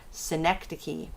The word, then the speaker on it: synecdoche: And yeah, that's actually how you say that word, synecdoche. I know that's not what it looks like, but that's how you say it, synecdoche.